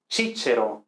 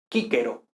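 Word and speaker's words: Cicero: decir no decimos pero no decimos pero no decimos chichero no decimos sí pero no decimos nada de eso decimos kicker o entonces y que vale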